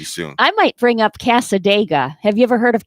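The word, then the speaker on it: Cassadaga: Kind of like Talladega, but Casadega.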